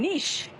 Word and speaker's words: niche: I got this on nish nish it is niche well done we've got